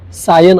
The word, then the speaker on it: Sion: उडाली असेल म्हणून त्यावेळी त्यांनी त्या शिव या शब्दाचं उच्चाराप्रमाणे स्पेलिंग लिहिलं एस आय ओ एन आणि त्यांच्या भाषेप्रमाणे त्याचं उच्चार सायन असं झालं की शिव हा शब्द